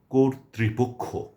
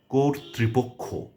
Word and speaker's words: কর্তৃপক্ষ: এক্ষেত্রেও তর মধ্যে রেফ রয়েছে এবং নিচে লিকার রয়েছে এবং সবগুলোকে আমাদের উচ্চারণে আনতে হবে। এবং এটি আনতে হলে আমাদেরকে উচ্চারণ করতে হবে কোর ত্রিপক্ষ। কোর ত্রিপক্ষ। তাহলে উচ্চারণটি সঠিক হবে প্রমিত হবে।